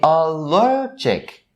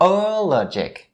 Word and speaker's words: allergic: But for the second form, its adjective form, its first syllable is the sound, but the primary stress is upon the second syllable. So you say allergic, not allergic, right?